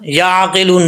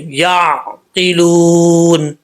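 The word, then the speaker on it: يعقلون: عین میں قلقلہ نہیں کرنا، یعقلون نہیں، یعقلون. ٹھیک ہے.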